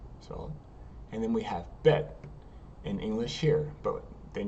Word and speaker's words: bet: Bet is with a dot. Without the dot, it's vet. But bet is going to be, we're going to stick with bet for right now.